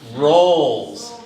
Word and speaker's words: roles: say rules rules rules the pronunciation for the most important word in that part of the speech is roles and maybe for for the Chinese you may look at the Lees at the end and sort of get thrown so the real pronunciation is just like rolls rolls of bread rolls of fat okay and then it